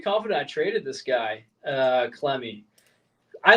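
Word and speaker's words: Clemmey: Am I going to pronounce this correctly? Clemmy? Yeah, Alex Clemmy.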